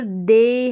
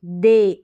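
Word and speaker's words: they: रह रहा है की अब यहां पर दे है दे एई करके उच्चारण ए ए माने या एई तो दे यहां पर दी नहीं पढ़ रहे हैं तो ई वाई का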